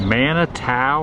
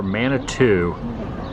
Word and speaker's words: Manitou: It's pronounced both ways. Manitou or Manitou.